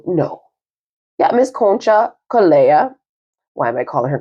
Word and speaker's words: Concha Calleja: So energy is giving me that, if Catherine, hopefully is with us from Miss Conchella, is that how you say her name? No. Yeah, Miss Concha Calleja.